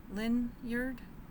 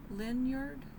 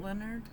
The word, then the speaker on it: Lynyrd: then Leonard does a lyard I think that's how he's going to say his name Lenard not Leonard I don't know I'm